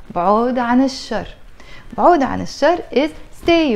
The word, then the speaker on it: الشر: with the letter شين, when you put L before that, that L, you're not gonna pronounce it. You're just gonna say بعود عن الشر. If you say بعود عن الشر, it's fine, it's not the end of the world.